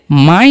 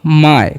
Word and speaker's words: my: अब है MY, तो एम का उच्चारण म और वाई का उच्चारण आई नहीं करना है, इसे माई नहीं पढ़ना है, पढ़ेंगे इसे हम लोग माय, क्या पढ़ना है माय।